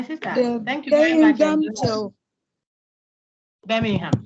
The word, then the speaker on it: Birmingham: Then it will tell you it is Birmingham. The G is silent. The G is silent. Birmingham.